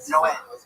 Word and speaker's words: Noé: Like in the Bible, the Spanish translation, it's Noe is Noah, but it's pronounced Noé.